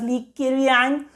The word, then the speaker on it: Li Keqiang: Li Keqiang, so Keqiang, some people pronounce it as Li Keqiang.